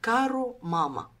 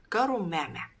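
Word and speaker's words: كاروماما: التمثال ده لواحده اسمها كارو ماما لكن نطقها الصحيح عند المصريين القدماء كارو معع بس الاجانب ما عندهمش حرف العين فكتبوه كارو ماما كارو ماما دي كانت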